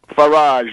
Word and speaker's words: Farage: Farage rhymes with garbage.